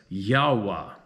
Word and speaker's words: Yahweh: YHWH, which at this stage of the game I pronounce as Yahweh.